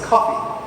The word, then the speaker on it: Kofi: Ki we angd of we pronounce it as cuppy like the Paul cuppy school there are thousands of